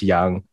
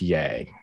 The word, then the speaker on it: Yang: I'm Young, not Yang.